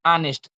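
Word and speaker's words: honest: जैसे कि इ अंब्रेला होता है और फिर आ जाता है एच ओ एन इ एस टी तो ऑनेस्ट एच से स्टार्ट होता है बट हम पढ़ते हैं उसे ऑनेस्ट तो उच्चारण के अनुसार हम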